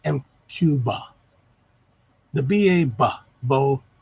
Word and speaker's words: MQBA: cuba cuba mqba but really it's supposed to be pronounced m cuba the ba ba bo